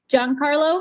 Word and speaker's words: Jancarlo: feel you I feel you how do you pronounce it oh sorry oh no sorry John Carlo John Carlo yeah yeah okay yeah just want